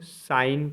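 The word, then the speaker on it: sign: number फ जी साइलेंट जब एन से पहले जी आए तो जी साइलेंट रहता है जैसे एस आई जी एन इसको साइन पढ़ेंगे साइन मतलब चिन होता है जी एन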